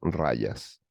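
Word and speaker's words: rajas: aspecto que es rayas la J en sánscrito se pronuncia como por lo tanto en este caso es rayas el aspecto rayásico el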